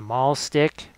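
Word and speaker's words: mahlstick: And the Malin, that not pronouncing the H, right? Avoiding pronouncing the H for the mall stick.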